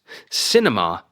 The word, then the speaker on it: cinema: On cinema, it is the first syllable, cinema.